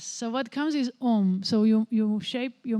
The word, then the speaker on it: Om: are three letters a ma but really it's pronounced om and and the end of the after a